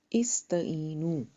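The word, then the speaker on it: استعينوا: इस्तईनू, अलिफ हमज़तुल वसल थी, साइलेंट अलिफ है, इसको हमने हरकत दी। तो कैसे देंगे कि थर्ड लेटर ता है, उसके ऊपर ज़बर है, तो अलिफ को हम ज़ेर देंगे।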